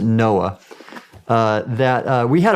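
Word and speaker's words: NOAA: Oceanic and Atmospheric Administration we pronounced it Noah uh that uh we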